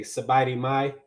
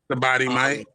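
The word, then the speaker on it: สบายดีไหม: So you can say "Sabadi Mai." That's like, "How are you doing?" Sabadi Mai.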